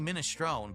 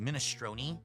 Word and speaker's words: minestrone: No, it's actually minestrone, but a lot of people have started pronouncing it minestroni.